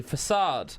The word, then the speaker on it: F4CADE: F4CADE.